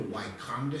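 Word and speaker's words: Wakonda: If you'll go to Wonda State Park today, they spell it W A K O N D A.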